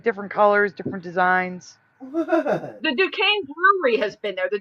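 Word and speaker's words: Duquesne: It's spelled like Dquzy, but it's Dukane.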